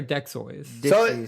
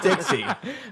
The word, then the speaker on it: Dexys: Is it Dexys or Dexoys? So it's actually Dixie. It's pronounced or it's spelled Dexy, Dexy or something like that.